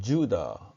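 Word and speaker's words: Judah: 크 업 이렇게 발음하고 유다는 은 지우다 이렇게 발음합니다 그리고 우리가 여호와 라고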